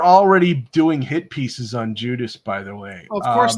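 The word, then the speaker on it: Guidice: see we are oh uh Richard judius Rich Judy yeah probably Richard okay okay pronounced like Judas the former head of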